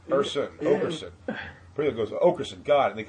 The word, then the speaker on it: Oakerson: And then they come back and they go, Oberson? I'm like, no, Oaker, like oak tree. Think of oak tree, Oakerson.